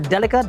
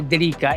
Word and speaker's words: Delica: Which is essentially a Delica or Delica, depending on how you say it, but I say Delica.